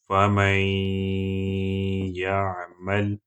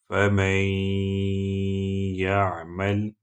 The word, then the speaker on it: فَمَن يَعْمَلْ: So you will have to add this noon sukun into ya and pronounce it through nose. فَمَن يَعْمَلْ فَمَن يَعْمَلْ فَمَن يَعْمَلْ.